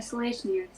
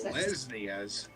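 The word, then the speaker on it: Selesnya: I choose to join the Selesniers. Is that how you The pronounce it? Selesnias, Yes.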